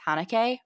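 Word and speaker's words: Haneke: funny games by michael i think it's pronounced hanukkah funny is that the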